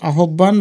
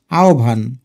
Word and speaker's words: আহ্বান: এটার সঠিক উচ্চারণ কিন্তু আহ্বান বা আহ্বান না, এটার উচ্চারণ হচ্ছে আহ্বান।